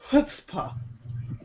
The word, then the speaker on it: chutzpah: It's Right pronounced chutzpah.